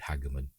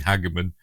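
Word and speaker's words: Hageman: I don't I've heard somebody else pronounce it like that. So, um I think it was I think it were Ellie from Tre Culture. I think she said Hagerman. So, we're going with that because Ellie is lovely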